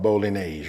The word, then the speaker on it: Bolognese: calling the spaghetti sauce but listen the correct pronunciation is called Bolognese right hey with that being said come on